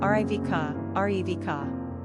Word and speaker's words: Rivka: Pronunciation, Rivka, Rivka.